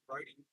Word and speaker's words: Rode: It's spelled RODE, as in like the brand, the audio brand, Roadie. They might call it road, but this is definitely Roadie Road.